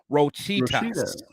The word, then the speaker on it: Rochitas: He said, I said his name wrong. So it's Rochitas.